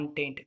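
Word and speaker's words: Entente: Thus form the triple என்டென்ட் of Britain, France and Russia, Britain, France இவங்க 3 பேரும் ஒரு team பேர் தான் ட்ரிபிள் ஆன்டென்ட். இது ஆன்டென்ட் நம்ம ப்ரொனவுன்ஸ் பண்ணோம். என்டென்ட்லாம் ப்ரொனவுன்ஸ் பண்ணக்கூடாது. ஆன்டென்ட், ட்ரிபிள் ஆன்டென்ட். ஓகேவா?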